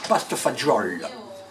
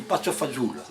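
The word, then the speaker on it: pasta e fagioli: Les Italiens, ils disent paste fagioli. Le napolitain, il dit paste fazoule.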